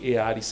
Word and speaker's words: Earis: É Earis mesmo que falam. Isso. Earis. É, se fosse puxar pro inglês, a gente mudaria a pronúncia, mas em português, como nós somos brasileiros, como tá escrito.